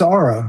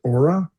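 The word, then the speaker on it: Oura: No, it's Aura, according to the definition of the pronunciation. It depends on your country you live in, whether you pronounce it Aura or Aura, but it both means the same.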